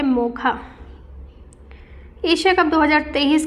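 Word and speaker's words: Mocha: मोका को प्रोनाउंस किया जाता है मोखा।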